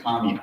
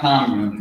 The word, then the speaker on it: commune: Commune is spelled the same way as commune, right? But let YouTube know it's not commune, it's commune.